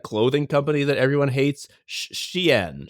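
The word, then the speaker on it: Shein: It's sh h i n. I think the one that everyone hates is sh h e i n. I think it's a sheen either way.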